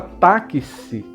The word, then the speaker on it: táxi: pronúncia da palavra táxi, a palavra táxi tem 5 sons. Táxi, né? Táxi. Então tem 5 sons. Tá, si. E tem apenas 4 letras. O X ele tem uma pronúncia como se fosse dois sons, né?